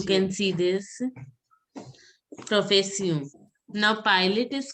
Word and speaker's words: pilote: See, here T is not to be pronounced in male pilot. Last word I generally say it is not pronounced in French. So you have to pronounce a pilo.